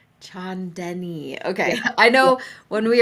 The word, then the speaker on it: Chaandani: It's pronounced Chandenni. Chandenni.